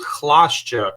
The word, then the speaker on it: Chlasciak: it oh um so originally my last name in polish it's it's called klashjek but it's it's a